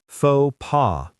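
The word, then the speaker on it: faux pas: Fauxpaw. Both the X and S are silent.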